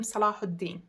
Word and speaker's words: Salahuddin: So for now, we have the name Yaqub, as in Jacob, and we have the name Salahuddin.